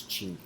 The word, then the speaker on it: Cheney: but actual the pronunciation at home and the pronunciation in my family is chy and here's the thing nobody went around whacking